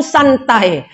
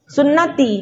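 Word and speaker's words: سنتي: Nah, kalau dia tak belajar nahwu dibacanya an-nikahu santai. Tulisannya sama. Ya, sunnati bisa juga dibaca santai.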